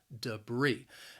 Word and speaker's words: debris: that that's larger debris the word has two syllables and the stress is on that second syllable debris now that first syllable also it has that schwa sound that and that second syllable has a long e sound even though the spelling is a little different we're going to end